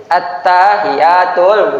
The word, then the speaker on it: attahiyat: Ah, tanya-nya dipanjangkan. Kalau tanya-nya panjang itu akhirnya tukang kebun artinya. Padahal tahiyat itu adalah salam penghormatan. Bacanya harus seperti ini. Makanya nanti ada khusus di dalam safinah itu ada bab tasydid. Tasdid al-Fatihah, tasdid di doa tahiyat. Karena bacanya harus gini. Attahiyatul attahiyatul bukan attahiyatul mubar atau attahiyat. Enggak boleh dipendekkan. Karena kalau pendek atau panjang ayunannya berbeda artinya berbeda.